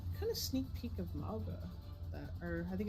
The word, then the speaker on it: Mauga: Or I think it's Manga. I don't remember how I was saying Mauga. I don't know. I Yep. swear there's like an N in there somewhere. Yeah, it was Mauga, is how it's pronounced.